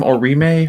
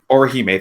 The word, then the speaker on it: Orihime: Orime? Orihime? Orihime, thank you.